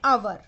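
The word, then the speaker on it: hour: यहां पर एच जो है वो साइलेंट है। जब आप प्रोनाउंस कर रहे हैं तो जो एच है, एच का जो साउंड है वो साइलेंट है ना।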